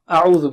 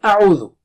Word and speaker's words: أَعُوْذُ: have problem in saying a'udhu. So repeat after me 3 times. Take a sharp start. Don't say no. And don't stretch it.